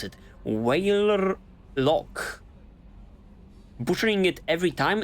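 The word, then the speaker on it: Weyrloc: Waylork. Butchering it every time. It's so much easier when the R is silent. It's just Waylog then.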